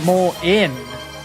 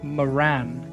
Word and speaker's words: Moran: It's technically pronounced more in, but English folks always say Moran.